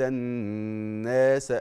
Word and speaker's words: الناس: في دين الله افواج هقول لك الفرق بين نطق المد الطبيعي النطق الصحيح وبين نطق المد الطبيعي نطقا غير صحيح لما تقرا ورايت ورايت ورايت الناس شوف الناس يدخلون الناس دي الف وقبله مفتوح بنسميه ايه مد طبيعي قد ايه حركتين ان الناس ما تزودش ما تقولش الناس لا خطا طيب